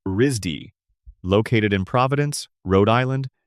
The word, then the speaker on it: RISD: He went to college in 1991 at the Rhode Island School of Design, known to most people by its initials RISD, pronounced Risdy.